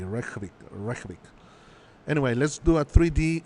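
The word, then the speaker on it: Reykjavík: I don't think you pronounce the J. Reykjavik.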